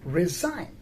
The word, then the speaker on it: resign: we have a verb resign r e s i g n here the g is silent but when we say resignation right the word resignation